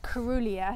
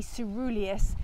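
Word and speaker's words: caerulea: word up so well I was calling it corulia so for a start it says it's cerulea so it should be pronounced s-e-e ceruleus instead of Corolla so ceruleus and it means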